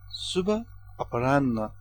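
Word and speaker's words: शुभ अपराह्न: In Nepali, good afternoon is translated as Subha Aparanna, which is pronounced Subha Aparanna.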